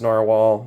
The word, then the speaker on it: Nahvalur: This is the Narwhal, or Nahvalur, but it's pronounced Narwhal, even though it's spelled differently now.